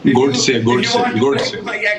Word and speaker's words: Godse: Godse.